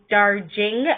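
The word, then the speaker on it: Darjeeling: Today, I'm using my geisha cup, and I am drinking some Darling, or some people pronounce it Darjing. I pronounce it Darling tea.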